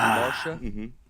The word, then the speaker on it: Marcia: I've seen Marsha spelled that way. M A R C I A.